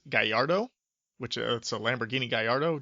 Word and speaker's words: Gallardo: other rap songs but no it's a gallardo g-a-l-l-a rdo so they pronounce they pronounce the l's you know they don't they don't accent the l's but they they say it with a d so he just kept